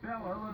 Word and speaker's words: Bela Lugosi: Dracula, a creature conjured up by author Bram Stoker, but brought to life by Bela Lugosi.